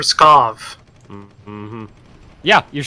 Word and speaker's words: Pskov: christoph scoff scoff yes there's no are in that word in pronouncing are you said you kept saying press golf i said for Pskov mmm-hmm yeah you're saying